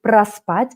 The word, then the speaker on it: проспать: So, проспать, we pronounce it проспать, проспать.